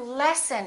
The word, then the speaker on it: lessen: the d adam adam let's practice a few more words that sound exactly the same but they're spelled slightly differently lesson lesson i'm learning a new lesson and i would like to lessen it to lessen means to